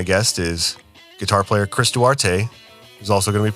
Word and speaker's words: Duarte: And thank you for pronouncing your name correctly cuz I was saying it awkwardly as he that's you're not the first person that is absolutely okay in it. That's how it looks sometimes.